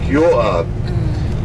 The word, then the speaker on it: Joab: That's why he did gather a big army under commander name was Joab, or you pronounce it like Joab, which he did command the army.